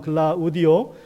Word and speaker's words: 글라우디오: 이 글라우디오, 우리 성경적으로 발음하면 글라우디오 이 황제가 주 49년 또는 50년에 로마에 있는 4만 명의 그 유대인들을 다 쫓아버립니다.